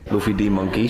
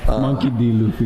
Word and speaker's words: Monkey D. Luffy: Luffy D. Monkey. Shout out Luffy. Monkey D. Luffy. There it is. He says the name wrong.